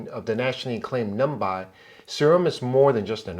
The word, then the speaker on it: ស្អំ: Sa-Orm? Sa-Orm.